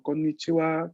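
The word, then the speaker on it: こんにちは: Wa se va a pronunciar wa cuando la sílaba se encuentra en función partícula. De igual modo, se va a pronunciar wa en algunos saludos como konnichiwa, konbanwa, etc.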